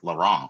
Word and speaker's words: Laurent: And what an honor to follow a rock star like Laurent. So and I pronounce that like in French because I'm Canadian and we pronounce everything in French, even if it's in English.